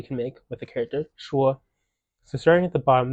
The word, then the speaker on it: 说: So yeah, I would say 99% of the time, this character is going to be pronounced sure and has one of those first 5 meanings.